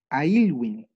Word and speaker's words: Aylwin: Ya, ¿Cómo se escribe Elwin? anoten. EDW. Y, L, W, I, N. Es Ailwin. ¿Bien? Vale, Pa- clarita. Patricio Elwin.